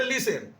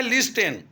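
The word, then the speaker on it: listen: वैसा पढ़ा नहीं गया उसी तरह से लिसन एल आई एस टी आई ओ एन लिखते हैं लिस्टन और पढ़ते हैं लिसन जैसा लिखा जाता है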